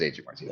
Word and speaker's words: Adrian Martinez: It is Adrian Martinez. Yeah. Okay. I think the reason I don't want to call him Adrian Martinez is because I had a friend in middle school named Adrian Martinez, and I just You're like, can't get nah,